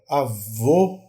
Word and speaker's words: avô: aqui olha aqui ó avô o e avó ó avô o o o o o o é um o é mais Redondo certo e é mais fechado só a vô enquanto